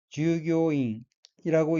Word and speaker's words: 従業員: 다음 어휘는 한자가 한국어로 종업원이고 일본어로는 주교인이라고 읽으며 주교인은 종업원이란 뜻입니다. 다음 어기는 한자가 소리성자이고 일본어로는 코에오 카케루라고 읽으며 코에오 카케루는 말을 걸다는 의미입니다.